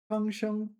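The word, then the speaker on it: 创伤: 方伤, and we know it's first tone because it pertains to wounds. 创伤, sorry, 创伤, 童年的不幸, 给他留下了心理创伤.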